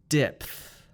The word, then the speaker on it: depth: Let's now do PTH. Puff. Repeat after me. Depth, depth, depth.